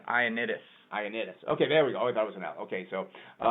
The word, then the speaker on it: Ioannidis: Loannidis? I don't even know why you went for it, but it's an I, so it's Ioannidis.